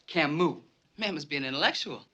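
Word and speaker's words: Camus: cus The Stranger yeah he's French and is pronounced Camu man must be an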